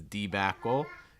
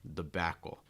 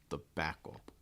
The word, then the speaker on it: debacle: the back and again so it's not usually pronounced as debacle it's usually more the Backle the Backle okay that first Sy again getting reduced and